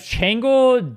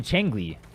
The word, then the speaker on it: Changli: I have Changle, Jinchi, Jiaji. Did you intentionally... That's intentional, right? Why do you mispronounce every single one of them?